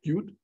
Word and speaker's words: Qt: there's uh one co so called cute it's spelled qt but it's called cute there's one called the